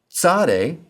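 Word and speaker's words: צ: Sade sounds like the ts in boots.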